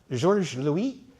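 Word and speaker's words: Georges Louis: His father who was uh George Louie and I need to pronounce it French even though he's German. George Louie.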